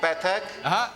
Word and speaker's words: Pathak: My name is Pathak. Ray? You're saying Ray? No, spell that for me.